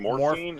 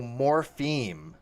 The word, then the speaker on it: morpheme: Are No, you no, saying morphine or morph? No, morpheme. Theme. Okay, Not F. theme. I got It's you. morpheme. Morpheme. Morpheme, Okay, theme. not phine.